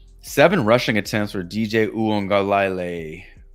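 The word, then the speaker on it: Uiagalelei: rushing attempts for DJ uong galal how do you say his name there's a there's a silent n in there OA oh a angay OU angay there's no n in there OU angay DJ U angay over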